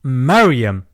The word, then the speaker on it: Mariam: Luke you'll see that in the original Greek where you see Mary it's pronounced Mariam matching the Muslim pronunciation but considering what's going